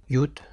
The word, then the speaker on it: Yud: Iota, Yud, Yut, Iota. Voilà, donc il faudra s'en souvenir, c'est pas très compliqué. La prononciation, c'est comme un I.